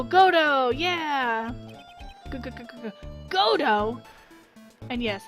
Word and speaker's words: Godot: oh yeah good good godo and yes it's Gotoh not Godot the T is silent uh you have taken